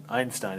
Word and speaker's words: Einstein: plunk proposed his quantum hypothesis for explaining blackbody radiation this very unknown obscure patent clerk in Switzerland named Albert Einstein Einstein is how you pronounce that name published a paper in which